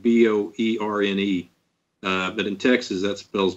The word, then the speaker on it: Boerne: I'm actually in Boerne, Texas, and that's how we pronounce it here. It's actually spelled B-O-E-R-N-E, but in Texas, that spells Boerne.